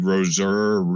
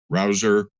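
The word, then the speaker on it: Rouzer: a deep dive into David Roser Rosier however it's pronounced Rouser. R O Z R O U Zer.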